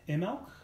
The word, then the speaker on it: Imbolc: Ireland he was called ml which is spelled in bulk but due to the vagaries of Irish selling the B is silent but he was also